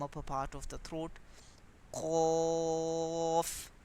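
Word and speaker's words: ق: Qaf, raise back of the tongue.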